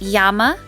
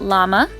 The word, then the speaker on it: llama: into indigenous dialects since the double l is pronounced with a y sound instead of a le sound so it's yama not lama and all that information